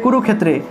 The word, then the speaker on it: কুরুক্ষেত্রে: এই যে ধর্মক্ষেত্রে থাকলে উচ্চারণটা হবে ধর্মক্ষেত্রে, ধর্মক্ষেত্রে, অর্থাৎ এই ক্ষয়টা এখানে ভেঙে গেছে, ঠিক আছে? ক যুগ মূর্ধন্যস্য রূপে ভেঙে গেছে। তা আমরা এভাবেই উচ্চারণ করব, অর্থাৎ যে জায়গাতে আমরা ক্ষয় পাব সেই জায়গাতে আমরা সংস্কৃত ক্ষ উচ্চারণ করব, ঠিক আছে?